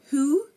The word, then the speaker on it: who: look at them now if a word starts with wh the W is silent for example who whoever and whole again who whoever whole you are not hearing the W in any of these pronunciations and we also have some